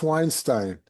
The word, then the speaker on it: Weinstein: Yes, pronounced Weinstein, unless you're my daughter. Before she got married, she was a Weinstein.